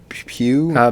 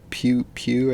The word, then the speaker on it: Pugh: Pugh? Midsummer Girl. Pugh, yeah, Midsummer Girl.